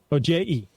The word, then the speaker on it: Ojai: It's a Spanish J. It's pronounced like an H.